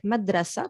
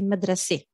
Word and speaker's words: madrasi: And sometimes you have maf'ala, like madrasa, but in Lebanese we say madrasi, because you know we like the A sound.